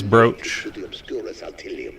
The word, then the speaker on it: brooch: it's not a br it looks like it's spelled I mean it is spelled b r o o o but it's not BR it is broch well that's out oh